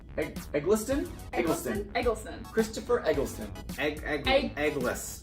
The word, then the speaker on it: Eccleston: How many times are we going to say his name wrong? I'd say roughly probably 12. Say it right. Eccleston? Eccleston. Christopher Eccleston. Eggless. Eccleston.